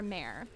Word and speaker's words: Mare: Pronounced like mare. Oh, okay, mare. Okay, that's easy. I can remember that. Like the ghost.